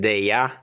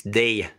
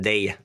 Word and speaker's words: Deye: name somebody called it de but it's de that's the correct pronunciation de the short e the next one day